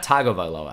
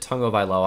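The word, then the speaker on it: Tagovailoa: this quite a bit it's not toggle by Lois I know it looks like it but he pronounces it tongue of Eylau I'm gonna listen to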